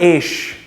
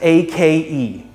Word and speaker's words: ache: i have a headache it's not ish it's pronounced as ake ache that's all i